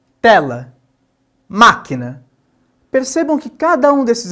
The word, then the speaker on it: máquina: Logo, na palavra máquina, inclusive com esse acento recai ali sobre o má, nós temos que esse ma é a sílaba tônica, portanto ela é uma palavra proparoxito, né?